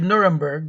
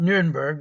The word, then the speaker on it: Nuremberg: Now, in Nuremberg, I should say Nuremberg, not Nuremberg, that's the German pronunciation.